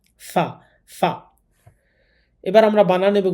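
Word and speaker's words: ف: এই হরফটা উচ্চারণ করার সময় উপরের দাঁত নিচের ঠোটের সাথে লাগিয়ে উচ্চারণ করতে হবে। ফা ফা এবার আমরা বানান এবং উচ্চারণ করে পড়ছি।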